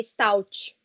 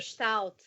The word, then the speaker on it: Staudt: O sobrenome é que tem duas pronúncias, né? No aportuguesado e no alemão. Então, fala no aportuguesado, que é mais fácil, que é Stout. Stout. No alemão? No alemão é Stout. Stout. É falar que nem carioca. É só falar que nem carioca. Falar que nem carioca. Stout porque é a mesma pronúncia da cerveja, então. É, mais fácil.